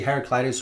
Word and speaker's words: Heraclitus: is this guy talking about but it's actually Heraclitus who is a philosopher who lived 2,500 years